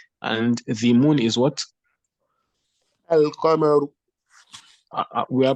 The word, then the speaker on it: القمر: القمر. We are pronouncing the lam, yes or no?